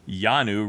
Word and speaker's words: Yanu: Yanu rhymes with Lulu.